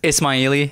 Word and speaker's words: Ismaili: Ismaili. It's like Ismail. And Persian in Farsi, you use the I at the end typically can refer to like multiple or group of people. So Ismaili is multiple Ismails.